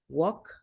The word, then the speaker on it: walk: I usually I usually walk. walk, Sin la L y esta la cambiamos por walk, una O.